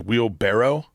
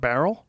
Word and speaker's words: wheelbarrow: It's like Did you know it's wheelbarrow? It's not barrel? It's wheelbarrow.